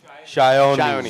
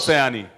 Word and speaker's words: Sayani: Shayoni. Shayoni. Okay, great. It's not Sayani.